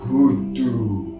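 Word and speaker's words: Hudu: That's spelled H-U-D-U, hoodoo.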